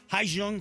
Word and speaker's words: Hyejung: Hi Jung. Did I pronounce that right?